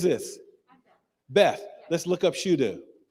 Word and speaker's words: Shudu: i think her well i just missed pronouncing that her name is shudu you ever heard of